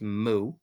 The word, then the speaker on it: mu: to use this unit moo that's the moo and it's a Greek letter it's pronounced moo and so they'll have